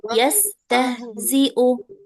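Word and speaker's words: يستهزئون: yastahziu nah ini nih huruf ha besar nih masih banyak yang terkecoh jangan terlalu ditekan jangan tah jangan juga tah ya jangan tah jangan tah tapi yastah tah biasa aja yastahziu yastah yastah yastahzi ahsantun sekarang ke yang bagian domahnya.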